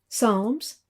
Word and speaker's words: Psalms: Ezra, Nehemiah, Esther, Job, Psalms, aquí la P no se pronuncia, Proverbs, Ecclesiastes, Song of